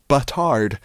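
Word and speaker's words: bâtard: what is a batard well how do you pronounce batard batar batar batar you don't even say the d you don't i can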